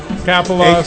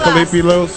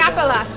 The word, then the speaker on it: Kapelos: Kapelos. A.K.A. John Kalipilos. Say it right, goddamn. Kapelos.